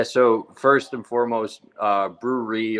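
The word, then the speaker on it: Brewre: first and foremost uh brewery or brewery um i whenever it's a recording i always try and spell it out so people can understand it uh it's b-r-e-w-r-e so it's to play on words with a brewery where people make beer and drink beer and the last two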